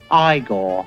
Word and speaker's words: Igor: guy with the eyes he played Igor now it's pronounced Igor a young and very